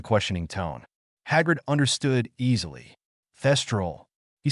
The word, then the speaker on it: thestral: Dumbledore find his people cestal no thestral he emphasized his pronunciation thestral oh Naruto beamed at